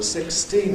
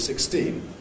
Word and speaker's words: sixteen: And notice that, perhaps rather oddly, in English we can do this with two adjacent stresses on the two syllables of 16, whereas the other words, the function words, are unstressed.